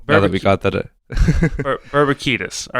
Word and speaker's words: Babakitis: It's Babakitis. So now that we got that, Babakitis.